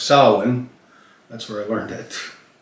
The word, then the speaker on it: Samhain: tradition in modern times Salan a Gaelic word pronounced Salin that's where I learned it it told me